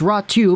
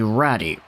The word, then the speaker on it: Räty: we're talking about ottu ratu and yeah it's rat 2 because the y in finnish is actually pronounced like a u so try not to pronounce it like ati ratty raju is a guy